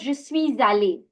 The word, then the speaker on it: je suis allé: We pronounce this as je suis allé. Now, this is called the liaison, as I was mentioning last week as well. The sir, the consonant that is ending, needs to be connected to the vowel